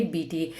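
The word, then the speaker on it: Beattie: ई यह है spelling B ई ए टी टी आई ई तो बीटी करके इसको सिंपली हम लोग प्रोनाउंस करेंगे बीटी तो जे बीटी के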